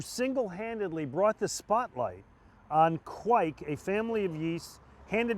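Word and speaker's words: kveik: here speaking of trends this is quick which is spelled k-v-e-i-k quik it's a norwegian yeast which ferments super fast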